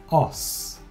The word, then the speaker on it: os: au temps que le mot au singulier c'est os os occlus riels attention parce qu'on ne prononce pas les s ils ont maintenant est